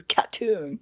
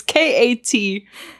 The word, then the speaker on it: KAT-TUN: I don't listen to Cattoon. Yeah, I'm so sorry. I don't know the correct pronunciation. I read it as Cattoon. Yeah. It's KAT-TUN.